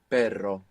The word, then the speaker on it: perro: and the double R, just as we saw in pero, meaning but, and perro, meaning dog.